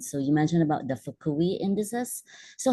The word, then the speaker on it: Fukui: How did you, is that the right pronunciation? Yeah, Index? Fukui.